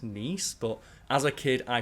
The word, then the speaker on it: Nice: And I'm not sure if it's Nice or Nice. I've heard that it's named after the region in France, which is pronounced Nice.